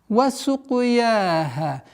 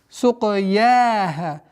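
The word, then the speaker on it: وَسُقْيَاهَا: Син мягкая, каф. Применяем правило калькаля. Сука, сука, сука. Сукуяха. Мягкое произношение я и ха в размере двух огласовок.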